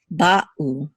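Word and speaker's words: בָּאוּ: It's like when you say in English the word uh-oh, there's a pause between and oh, uh-oh. We don't say oh, we say uh-oh to make the two syllables distinct. So same thing with Hebrew here. We say ba'u, ba'u.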